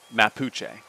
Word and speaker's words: Mapuche: You know, I want to see how to pronounce this. Okay, Mapuche.